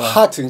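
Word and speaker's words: Heart: 제플린에 헌정한 밴드는 하트가 하트 그러니까 하트 짧게 발음해야 돼요 하트는 길게 해야 되는데이 하트는 누구냐면 프리 투드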